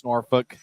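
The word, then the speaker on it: Norfolk: year Grizzlies will face norfol apparently that's how you say it back three game series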